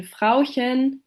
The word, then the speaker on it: Frauchen: And for example, in Frauchen, which translates to the diminutive of wife or woman, the softer h follows a front vowel, while in Rauchen, the h follows a back vowel and is therefore pronounced as the other phoneme.